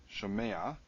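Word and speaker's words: שֹׁמֵעַ: Shomei, shomea. The accent falls at the end. So it is accented, and it is a long vowel. So in this case, you get this patach showing up furtively.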